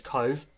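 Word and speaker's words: Cobh: Obviously it's spelt Cobb, but in Gaelic pronunciation it is Cove.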